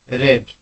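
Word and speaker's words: read: I have रेड। Spelling same होता है। रीड रेड रेड अनुवाद का नियम क्या है?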